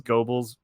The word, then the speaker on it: Goebbels: is not right also it's goebbels it's a fun german pronunciation uh which sounds like gerbil in english if gerbil were pronounced with a hard g sound wait gerbils i yeah